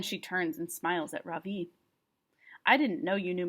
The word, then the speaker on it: Ravi: his hand up yes ravi says mrs beam i noticed she says his name right for the first time with the accent on the second syllable could you please tell